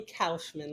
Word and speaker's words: Kaufman: It is actually Kaufman, like sauerkraut.